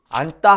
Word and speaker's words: 앉다: 있으면 교정하면 그냥 닭 넉 이렇게 발음하는 거예요 안따 한번 발음해 보세요 안따 이렇게 되죠 따라나 앉다 뭐